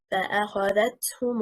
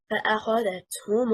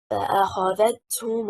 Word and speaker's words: فأخذتهم: The correct performance just on حركة الذال is فأخذتهم الصيحة. If we say فأخذتهم الصيحة, the incorrect stress is on حركة الهاء. Misplacing النبر leads to an additional mid vowel not in the Qur'an al-Kareem.